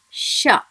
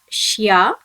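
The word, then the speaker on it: しゃ: should be pronounced as sha. Note here friends, it should not be pronounced as shya, it must be pronounced as sha.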